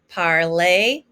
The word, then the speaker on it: parler: And remember that ER ending is an A sound. Again, it's regarder, parler, écouter.